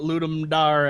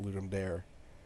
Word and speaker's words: Ludum Dare: or like his friend pronounced it ludum dare to so it's like you know it's ludum dari fun fact I I